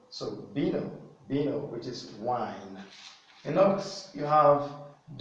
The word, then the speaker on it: vino: So, which means you can equally pronounce the V as B. So you have B, and the word vino.